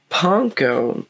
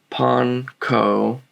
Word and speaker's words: panko: with panko excuse me now yes it is pronounced panko is it annoying kind of but that's just how it's pronounced all right j panko is japanese breadcrumbs all right now pon ko is breadcrumbs in japanese i can only imagine